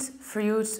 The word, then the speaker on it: fruit: one it's not Freud fruits fruits there is no yacht there and we have a very long all its fruits fruit I don't pronounce any e and I prolong the vowel there is a very